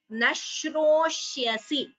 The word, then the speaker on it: न श्रोष्यसि: So, sa, sha, sha, all three letters are there in this word. A perfect word for you to understand the pronunciation of each letter. Each of these, sa, sha, and sha.